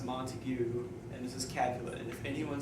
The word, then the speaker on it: Montague: teacher and she was like okay this is pronounced Montague and this is calculated anyone says I'm robot